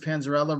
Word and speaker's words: Panzarella: you welcome everyone so my name is panzarella rhymes with Cinderella so now you'll never